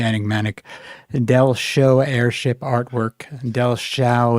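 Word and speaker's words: Dellschau: Dell show airship artwork Dell Sha is spelled D E L L S C H A U.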